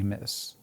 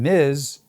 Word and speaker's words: Ms: Corporate training videos say miss. News anchors are inconsistent. The result miss has become the default and miz the intentional pronunciation is fading into obscurity.